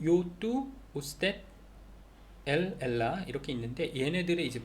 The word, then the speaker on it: usted: 그래서 usted, U-S-T-E-D, usted이지만 알파벳 큰 U, 그 다음에 대문자 U에다가 소문자 D, 그 다음에 점, 그렇게 해서 써놓으면은 그냥 usted 이라고 읽으면 되겠어요.